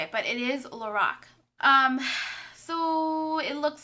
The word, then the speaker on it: LORAC: That's how you say it, because I looked it up on YouTube, and it's LORAC, and Carol Shaw said it that way.